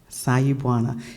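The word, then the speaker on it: Sawubona: Bernice will probably know it, I have to spell it to phonetically say it correctly. S-A-W-U-B, as in boy, O-N-A. Am I saying it right? Sayubwana? Sayubwana. It's Zulu.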